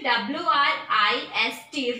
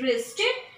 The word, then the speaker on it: wrist: Sixth is wrist, W-R-I-S-T, wrist, kalai. Here W is silent, W-R-I-S-T, wrist, kalai, means kalai.